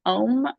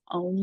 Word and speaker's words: Om: always available, which is OM. Ghazal Hassanzadeh: and you pronounce it A-U-M, and if you come to a semantics class, we might be doing one of those, here and there.